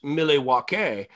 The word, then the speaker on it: Milwaukee: they flew us to milwaukee for gen con 96 to promote to launch it uh which by the way is actually pronounced miley wakey which is algonquin for the good land well done very